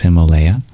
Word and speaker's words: Himalaya: the Hima Alaya but usually pronounced Himalaya which means the home of snow thank you sheren oh